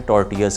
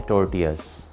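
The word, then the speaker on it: tortillas: वैसे तो स्पेलिंग्स में आखिर पे आप देखें डबल एल भी आ रहा है, लेकिन क्योंकि ये स्पेनिश ओरिजिन का वर्ड है तो डबल एल प्रोनाउंस नहीं होगा, तो ये हैं टॉर्टियाज।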